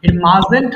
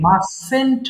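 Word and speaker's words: mustn't: ঠিক করে নেব আমরা মাজেন্ট হবে না কিন্তু মাসেন্ট হবে মাসেন্ট সবাই যখন পড়বো দেখো আমরা কিন্তু মাসেন্ট বলছি না আবার মাসেন্টও বলবো না বলবো মাসেন্ট আই মাসেন্ট রাইট আমি অবশ্যই লিখবো না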